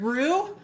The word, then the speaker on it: roux: You always heard roux? Great. I said it wrong. Roux. I don't know. I always said, great, I did say it wrong. I always said it roux because it's spelled like bow.